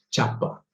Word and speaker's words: Csapa: que eu pesquisei aqui em húngaro, na verdade, a pronúncia seria Robert Csapa.